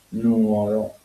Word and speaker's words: Nuoro: Eh, la giunta della vocale finale ha portato la diffusione dell'accento errato per assimilazione a parole come nuora e infatti eh Nugor Nugoro eh con l'accento nuor con l'accento sulla invece come nuoro.